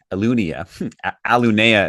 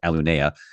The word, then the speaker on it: Alunea: Aluna is actually technically how it's pronounced. Alunea.